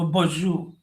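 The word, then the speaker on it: bonjour: तो जो प्रोनंसिएशन इसका होता है, शायद आपको पता होगा अमेरिका में रहते हुए, ये बॉन्जू होता है, वो बॉन्जू।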